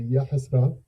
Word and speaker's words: Yahasra: Alors, d'abord c'est Yasra. D'accord. avec un H bien sûr.